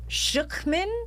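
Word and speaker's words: Schucman: And the woman who is responsible for creating this insane thing her name's Helen Schuchman, I think is how you say it. Or it's a silent C.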